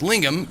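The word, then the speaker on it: lingam: Um, lingum pronounced lingum is a Sanskrit word for penis.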